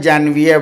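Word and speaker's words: janvier: एनवी आई आ हां जनवरी को French में जनवियर बोलते हैं स्पेलिंग भी थोड़ा सा अलग है जे एन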